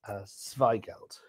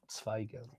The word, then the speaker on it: Zweigelt: Yes, wine number 6, Zweigelt. Probably more T at the beginning of Zweigelt.